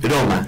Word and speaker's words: Roma: Traté de decirlo con una sola R. Roma. Así lo dice en italiano.